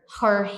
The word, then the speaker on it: her: Her hair. E cabelo, Brasil, é como se você pronunciasse assim, ó. Hair. Tá vendo que então o primeiro é her, é fechado. O segundo é hair é aberto.